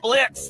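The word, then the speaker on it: Blitzø: Uh, are are you okay, Mr. Uh, Blitz? The O is silent.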